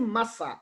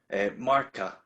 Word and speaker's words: Marca: Is it Massa or Marca? Marca with a K, Marca.